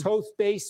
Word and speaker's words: Toth: This is Toast Base. I apologize. I've been saying it wrong.